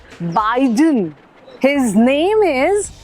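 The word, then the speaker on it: Biden: लोग बोल रहे हैं जो बिदन नहीं जो बाइडन हिज नेम इज जो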